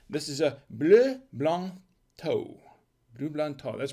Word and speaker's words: Thau: is a blue blond toe blue that's pronounced it looks it says thou but it's pronounced toe and this is a